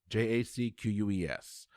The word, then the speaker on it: Jacques: and hannie jacques jacquez j-a-c-q-u-e-s i am not even going to pretend i can speak or pronounce french it's jacques is usually how that's pronounced okay all right so